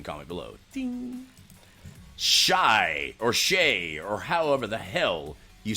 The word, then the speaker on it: Shai: half first quarter assists I know it's Shay but I don't know it's spelled Shai anyhow let's go over